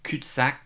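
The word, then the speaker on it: cul-de-sac: we have we have reached a CAC this is how we pronounce it in French kutac which means that we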